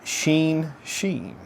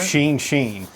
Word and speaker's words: Shin Shin: Pronounced Sheen Sheen. I think one thing about Side Project, go ahead. Oh, like Charlie Sheen? Yes. Okay. Yes, so right. Sheen Sheen.